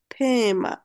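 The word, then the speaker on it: Thema: এসই লেখে তে হা এটার উচ্চারণ কি হবে থেমা হ্যাঁ বাংলায় তো কারেক্টলি লেখা যায় না থেমা আর এটা তো সবাই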